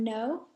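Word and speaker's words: know: me K is silent in the word no K is silent another example in the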